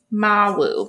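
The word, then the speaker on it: Mawu: go to her little page in the book Mau is how you pronounce it okay about Mau she's a West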